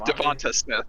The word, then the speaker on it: DeVonta Smith: People pronounce it Devontae though, don't they? It's Devonta Smith.